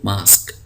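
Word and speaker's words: mosque: का आगे देखिए farm M ओ एस क्यू यूई तो यह जो यूई है इसको हम नहीं पढ़ेंगे तो यह लफ्ज है मास्क मास्क कहते हैं मस्जिद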